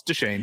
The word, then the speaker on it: Deschain: I was fascinated because I was like, how do you pronounce Roland's last name? Is it Deshane? Is it Deschain? Is it what is it? And it's Deshane. It's everything that you would think it would be.